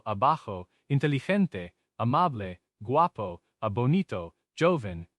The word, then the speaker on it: joven: For young, we use joven, J-O-V-E-N.